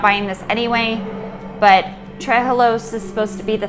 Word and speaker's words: trehalose: Trehalose. It's like three hellos.